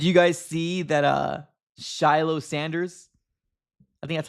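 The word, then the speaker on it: Shilo Sanders: Uh, Shiloh Sanders, I think that's how you pronounce his name.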